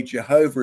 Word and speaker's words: Jehovah: So when you see those 4 letters, the JWHW, is the J pronounced as a I or a Y, as in Yahweh? But up to the 1900s, most people in the West pronounced it J.